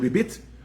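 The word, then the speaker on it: ribbit: Again, the Hebrew word for interest is a ribis, R-I-B-B-I-S, or in the Sephardic pronunciation, ribit, R-I-B-B-I-T.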